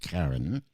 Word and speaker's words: Kairn: i r n okay I thought it was K but it is pronounced Karen mates of the alliance